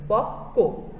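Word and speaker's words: পক্ব: একটা উচ্চারণ আমরা পাচ্ছি যে কটার দ্বিত্ব উচ্চারণ হবে, পক্ক।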